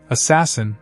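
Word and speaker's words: ASAS-SN: That day, the all sky automated survey for supernovi or azasen, pronounced assassin, detected a new point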